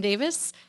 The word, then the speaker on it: Davies: wrong bro yeah because my name is spelled Davies but it's pronounced Davis yeah I don't really